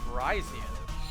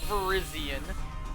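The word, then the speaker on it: Virizion: have cobalian turkey and verizon not verizian stupid people verizon if you actually watch the film they pronounce it verizon like verizon or phone company it's not arceus it's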